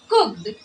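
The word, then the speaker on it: cooked: पते हैं इसके अलावा जब हम लिखते हैं कुक्ड तो यहां पर हम डी को क्या पढ़ते हैं ट पढ़ते हैं हैरान कुक्ड या कुक्ड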